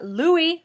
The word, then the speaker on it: Louis: his name because spelling spelled the French way but it's pronounced the American Way Thank You Kate and